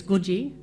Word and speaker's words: Coogee: kakadu but guru Canberra is Canberra coogee is GU ji kookaburras Google bara kangaroo is kangaroo koala is